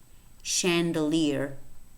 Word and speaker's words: chandelier: another thing is that the word chandelier is spelled CH yet it's pronounced not chandelier beige beige beige religion